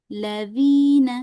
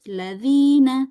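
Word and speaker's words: ٱلَّذِينَ: Misalnya kita berhenti pada huruf lam aladina. Nah, itu enggak boleh ya. Jadi jangan ada jeda walaupun sedikit walaupun sebentar. Al jeda dulu terus ladzina.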